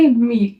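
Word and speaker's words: mille: I double L ई इसको आप pronounce करोगे मील कैसे बोलोगे मील यहां प देखो एल का भी प्रोनाउंस हो रहा है ना एल करके मील ठीक है तो ऐसे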